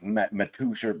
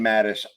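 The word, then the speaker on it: Matusz: Mattis, yeah, I thought it was like Matusha, but it's Brian pronounced Mattis.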